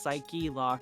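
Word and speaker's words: Psyche-Lock: Yeah, I think the joke is that I guess it is supposed to be pronounced psyche lock.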